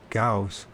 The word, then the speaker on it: Gauss: Magnetism is measured in units called gausses, is that how you pronounce it? Let's make sure I'm pronouncing that right. Gausses. Gausses. So I guess I said that wrong as usual. Called Gausses. Called Gauss. So magnetism is measured in units called Gauss, named after Carl Gauss, a German astronomer.